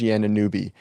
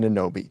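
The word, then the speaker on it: Anunoby: Like Sham's uh like Sham Sherania always said OG anubi until he was on the Knicks and then all of a sudden it's Anobi.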